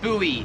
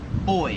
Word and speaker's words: buoy: yeah pew pew puma number four is buoy or as they say it in Australia boy like the little thing that floats in the water we pronounce that buoy here in Australia they pronounce it boy like boy and girl kind of yeah same